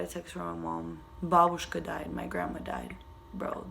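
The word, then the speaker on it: бабушка: That's how you say it in Russian, babushka.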